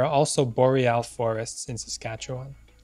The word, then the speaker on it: Saskatchewan: And now we arrive at Saskatchewan, the hardest Canadian province to pronounce. I'll say it again for you, Saskatchewan.